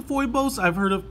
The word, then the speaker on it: Phoibos: I think it's pronounced foibles I've heard of pronounced Fobus but it has an O I in it so I'm gonna pronounce it foibles which kind of sounds